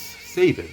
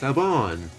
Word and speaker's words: Sabon: It turns out that I pronounced that name wrong. It's not Sabin. It's Sabon. Like, I'm Sabon.